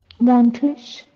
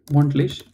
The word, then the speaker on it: monatlich: Monthlich. Monatlich. It's almost correct. Just add, that's it, monatlich.